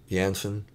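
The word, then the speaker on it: Jansen: think her name's floor janssen or johnson uh her last name is spelled with a j but i think it's pronounced more like it has a y uh floor has a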